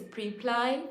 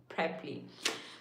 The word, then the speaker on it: Preply: I used to think it's Preply for some reason, but it's not. It's apparently Preply.